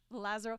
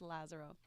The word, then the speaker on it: Lazaro: shows alongside your husband Lazaro, and I pronounced the last name. Lazaro. Okay, I'm Lazaro Italian version. Menezes. Lazaro. It's like Lazarus, but Lazo. in Portuguese, Lazaro.